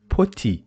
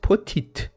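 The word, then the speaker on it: petit: we don't pronounce it put it because as I told you whenever we have the letter T at the end of a word it is not pronounced like the at the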